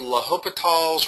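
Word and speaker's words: L'Hôpital: have zero over zero is a rule called laop's Rule spelled like La Hospital okay and that makes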